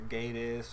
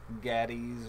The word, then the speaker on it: Gaddis: to people than what Gaddis is. A lot of people get that name wrong. They say either Gaddis or Gaddis or something else, but it's Gaddis, and figured would be easier.